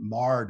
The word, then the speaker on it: mired: for farmers mired up we call it in my dialect we pronounce it marred up but a truck or a tractor sinks up to its axles you've got a problem you're stuck you're marred up and that's a very